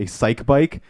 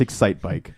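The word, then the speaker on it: Excitebike: I was like, I keep pronouncing a psych bike, and I'm like, what am I, a fucking idiot? Like, Excite Bike. It's Excite Bike.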